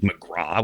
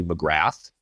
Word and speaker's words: McGrath: just don't like the people pronounce it McGraw when it's clearly McGrath I've had this discussion